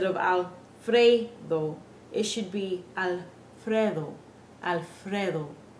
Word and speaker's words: Alfredo: our English accents so notice how the word Alfredo has the word Fred in it we don't say Fray we say Fred that is how we